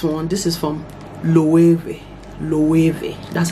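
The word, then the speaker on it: Loewe: w e body w i think they pronounce it as v this is what it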